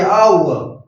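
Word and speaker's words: hour: और ये आउअ, घंटा, आउअ, तो आउअर का एन आएगा, आ आने पर एन आएगा अ से अ तक में।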